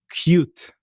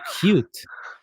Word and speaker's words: Qwik: this new cool framework called cute and I was like cute yeah but you spell it q o t and I said c he said no cute and I was like MCO